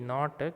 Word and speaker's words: knot: In KNOT, not, K is silent.